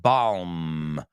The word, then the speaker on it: balm: Tiene una M, bálsamo en inglés es balm, con M, balm, pero la L no se pronuncia, balm. Suena como balm.